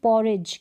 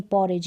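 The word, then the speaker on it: porridge: है इसलिए साइलेंट है अब इसको देखिए पॉरिज क्या पढ़ेंगे पॉरिज नहीं पढ़ेंगे पुरी डेज पर्दे नहीं पॉरिज यहां पर दी क्या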